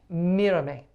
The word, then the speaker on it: Mírame: I want to say the E on the end, but it's an A sound, right? Mírame. Mírame.